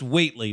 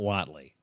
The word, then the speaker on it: Whately: So it's pronounced Whately, not Watley. Although it's spelled like Watley, like Joe.